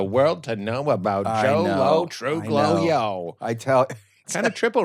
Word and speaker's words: Lo Truglio: Lo Truglio. The G is silent. Lo Truglio.